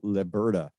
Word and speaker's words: Leberta: And if you just want to Google Leberta, it's L-E, by the way, not le.